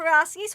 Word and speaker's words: Przewalski: And I'm pronouncing it that way because that's how Sir David Attenborough pronounces it, and he gets the final word with me.